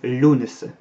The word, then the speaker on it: Lughnasadh: dire comme ça, mais on le prononce à la française, Lughnasadh. Ça c'est du gaélique. Alors la graphie que vous connaissez ou qu'on voit le plus souvent, c'est une très ancienne graphie. En fait c'est l'une des premières je crois qu'on a pu retrouver dans la littérature irlandaise. Donc c'est du gaélique irlandais et ça se prononce en fait Lunes.